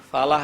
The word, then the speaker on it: falah: Falah itu lamnya los saja, falah. Falah di situ artinya adalah kesuksesan, keberhasilan. Itu nggak dibaca tasydid. Kalau dibaca tasydid ditekankan falah. Itu artinya petani.